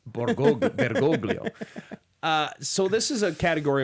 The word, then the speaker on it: Bergoglio: George Mario, probably like Jorge Mario Bergoglio. Borgoglio. You want to try that again? Bergoglio.